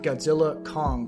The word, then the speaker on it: Godzilla x Kong: Or, you know, I just found out it was supposed to be pronounced Godzilla Kong, The New Empire. Like, the X is supposed to be silent, which kind of bothers me.